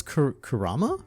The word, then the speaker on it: Kurama: have Fox and spirit no it's Kurama Karama oh is it